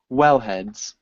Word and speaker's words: wellhead: help from the pumps wellheads wellhe heads wellhe heads well heads we emphasized the first syllable so wellheads wellheads you're still emphasizing heads a well head well